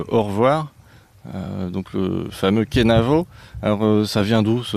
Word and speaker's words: Kenavo: En fait suivant les secteurs on va le prononcer de façon différente dans le centre Bretagne on entend un cheno qui est très à la mode auprès des jeunes sur la côte ici on entendra un canevo, chenevo, chenevo du côté de